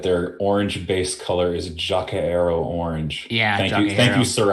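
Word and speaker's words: Jokaero: I learned that their orange base color is Jacaero orange. Yeah, thank you, Sir Astro, for pronouncing it correctly for all of us who were confused.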